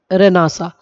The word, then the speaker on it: Renaissance: Okay, so enlightenment is what we can consider this is post रेनासा. हम रेनासा उसको pronounce करते हैं, रेनेसांस लिखते हैं.